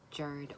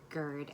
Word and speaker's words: GERD: realized that I had something called Jared or GERD as it's pronounced in the UK which basically stands for